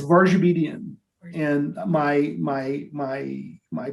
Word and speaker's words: Varjabedian: and you're certainly not the first so please pronounce say your name so everybody hears it the correct way sure it's varge obedient and my my my my people you know